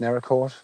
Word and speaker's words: Naracoorte: But I found out it's pronounced Naracoorte.